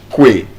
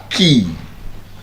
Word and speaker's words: quay: We would probably say Kwe. And Kwe would be absolutely wrong. The correct pronunciation is Key. Yes. Quay is correctly pronounced Key.